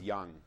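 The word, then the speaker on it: Dzung: all windows on Ballo this name is Young and it's spelled like d z u n g yeah Z Chinese oh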